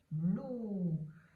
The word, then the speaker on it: loup: Loup. Eh bien, c'est parce que ici, le P est muet. Le P est une lettre muette. Il est là, mais il ne s'entend pas. Il ne se prononce pas.